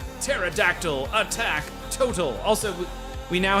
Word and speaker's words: pterodactyl: We're now going into pterodactyl attack. The P is silent.